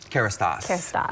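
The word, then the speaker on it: Kérastase: Kerastase. Kerastase.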